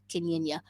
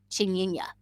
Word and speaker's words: Chinyanya: A lot of people don't know much about Kenyanya. No, I said it wrong. Chinyanya. That's it. Chinyanya.